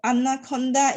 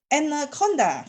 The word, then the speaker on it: Anaconda: Actually, it is a difference between the British and the American pronunciation. So Anaconda is the British pronunciation as compared to Anaconda, which is the American pronunciations.